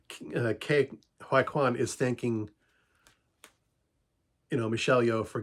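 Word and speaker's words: Ke Huy Quan: How do you pronounce his name? Oh, Ke-Huy Quan, the guy who played in Indiana Jones and Goonies.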